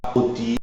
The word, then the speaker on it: rôti: y a l'accent circonflexe mais la prononciation est ouverte hôtel hôpital cotelette rôti on dit pas rôti ou hôel attention il faut le dire d'une manière ouverte enfin il y a